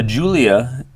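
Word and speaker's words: Giulia: the main roster uh Julia pronoun or spelled like gulia uh the biggest star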